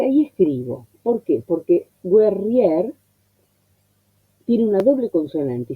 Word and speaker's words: guerrier: Entonces, por la cantidad de los versos, hay palabras que necesitan tener lo que podría decirse una sílaba menos, en vez de decir guerriero, guerriere, decir guerrier, en modo poético.